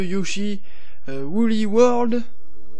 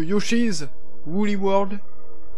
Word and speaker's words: Yoshi's Woolly World: un direct live de Yoshi Woolly World, qui se prononce plutôt Yoshi's Woolly World, mais c'est pas grave.